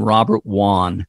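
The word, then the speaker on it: Robert Wone: a young lawyer named Robert Wan and it's spelled w-o-n-e Robert Wan and Robert was murdered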